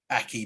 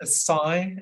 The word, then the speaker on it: acai: can't bring myself to call it an acai bowl. Ah, yes. So I rock up and go, Aki bowl, please, love. She goes, it's acai, I think she says.